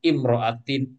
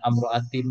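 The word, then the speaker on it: امرأة: Jadi hamzah wasal nanti cara bacanya semuanya nanti imriin, imroatin, isnataini bukan asnataini bukan amroatin bukan amriin bukan.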